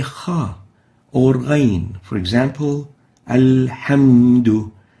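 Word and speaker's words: الحمد: rain for example al-hamdu some people would pronounce the hair with a hat I will hum do or with a lion alum do and both around we should pull off the hat as a hat like this al-hamdu do hemudu and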